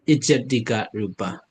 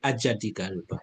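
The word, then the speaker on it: ajjhattika rūpa: But the Burmese pronunciation Ijat, yeah, Ijatika, yeah, Ijatika Rupa. But I think international pronunciation is Ajatika Rupa.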